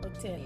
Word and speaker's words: hotel: Seventh one, an hotel, because we are not sounding H over there. H is silent here, so we are saying an hotel.